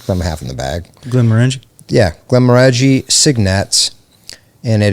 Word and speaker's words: Glenmorangie: screw this name up, but how do you pronounce that, bro? I'm half in the bag. Glenmorangie?